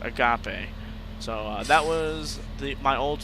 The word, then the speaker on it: agape: And it's pronounced agape.